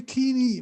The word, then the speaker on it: كيني: That's another country, not Kenya. You say Kini, my friend.